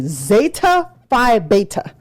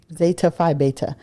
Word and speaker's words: Zeta Phi Beta: don't play about is you are supposed to say zeta phi beta for real yeah every time but not the duh like you're supposed you're supposed to pronounce the Z the T and then the B yeah zeta phi beta